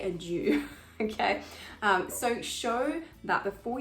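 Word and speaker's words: adieu: pride are due now don't say adir they wouldn't they probably would not have said that in shakespeare's day it's usually kind of anglicized and also you can hear that it rhymes with true so just say a jew okay so show that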